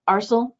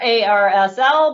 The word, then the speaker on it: ARSL: who's from um arsl arsenal depends on how you pronounce it i've heard it both ways i prefer ar asl but as long as